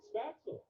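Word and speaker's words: Spätzle: right here we go or as the americans prefer to pronounce it spatzle that's right i'm going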